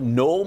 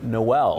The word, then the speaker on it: Noel: Yeah, every year, starting the day after Thanksgiving, the town of Knoll, Missouri changes the way it pronounces the name to Noel.